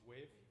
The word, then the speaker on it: WAV: WAV? WAV? It's pronounced wave.